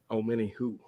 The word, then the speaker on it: Omenihu: So, like you just said, Omenihu could be that one guy that gets to him. Omenihu? Is that how you say it? Yeah, Omenihu. Omenihu. Okay. Like, kind of like Omenihu? Yep, Omenihu. Yeah.